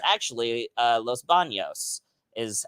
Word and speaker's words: Los Banos: never been to any of those like visalia los banos they call it los banos but it's actually uh los banos is how you would actually pronounce it but